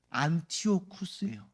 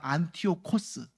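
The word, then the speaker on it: Ἀντίοχος: 안티오쿠스예요. 근데 정확히 말하면 원어로 말하면 안티오코스. 안티오코스, 안티오쿠스.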